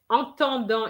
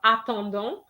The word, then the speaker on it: attendant: And I think, Paris, you said entendant instead of attendant. Entendant would mean you're talking about entendre, which is the verb to hear. But here is attendant, which is the verb to wait for.